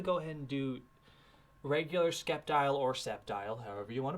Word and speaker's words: Sceptile: absolutely so it begins i totally always pronounced it sceptile not skeptile and you really threw